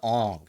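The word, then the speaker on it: Aang: horrible liveaction movie too they couldn't even pronounce his name right like what is ang what is that you could watch the show see that it's pronounced Ang oh that movie was so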